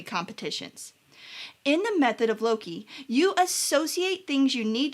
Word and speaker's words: loci: Now, the oldest recorded use of a mnemonic device is the method of Loki. People have a couple different ways that they pronounce this word, Loci and Loci. I pronounce it Loki because, well, so, the